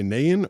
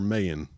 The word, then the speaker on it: Nayan: I don't know if you can pronounce that, but did you say Nayan or Mayan? Yeah, Nayan with an N.